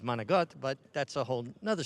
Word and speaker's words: manicotti: And even though Manicotti is not the proper way to say it, I grew up with Manigot, but that's a whole nother story.